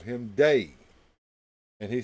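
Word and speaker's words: Dai: the day all of his friends called him day and he spelled his name d AI when he would write it down day Vernon but everybody looked at D Ai and pronounced it die so whenever a magician oh you going to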